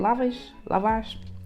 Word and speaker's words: lavash: I wanted like something like bready, and that's how you say it, lavash.